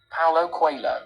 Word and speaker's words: Paulo Coelho: We are looking at how to pronounce this name correctly in English. Paulo Coelho.